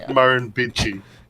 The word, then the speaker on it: Murrumbidgee: Oh, and that word that you were trying to pronounce there is Murrumbidgee.